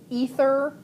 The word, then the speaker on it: aether: Ether is how it's usually said. It's usually pronounced ether, but it's spelled aether, and I don't know if that's a translation from the Greek or what.